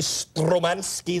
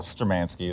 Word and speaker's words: Sturmanskie: Sturmanskie is how I've been pronouncing it? Sturmanskie is how I would, Okay, so.